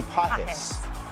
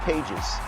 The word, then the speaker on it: Pages: 14 Innings Reds Dodgers how do you say this Andy po not pages I don't look at